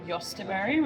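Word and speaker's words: jostaberry: infused it with some yosterberry, which is a hybrid berry we're growing out in the garden. Yosterberry. Yeah, it's spelled like Jos. Actually, it might be on here. Yeah, Josta berry.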